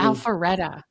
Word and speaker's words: Alpharetta: And you're in the Milton or Roswell, or how do you pronounce that city? Alpharetta.